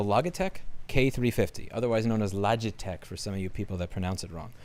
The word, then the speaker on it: Logitech: This is the Logitech K350, otherwise known as Logitech for some of you people that pronounce it wrong. It's the Logitech K as in cat.